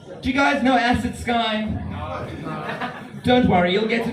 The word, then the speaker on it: Ssky: It's Sky like the vodka, except I have 2 S's and not 2 Y's for trademark purposes.